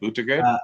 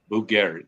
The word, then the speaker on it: Buttgereit: I can't pronounce his name. Buttigieg? Jörg Buttgereit. Buttgereit.